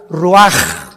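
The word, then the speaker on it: רוח: y exhaló Isaac el Roach así como suena se pronuncia la c en hebreo como J ruaj se le só y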